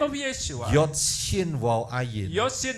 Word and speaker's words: Yeshua: dan sudah ada unsur nama Yesua, Also there is the name of Yeshua. bukan Yahsua.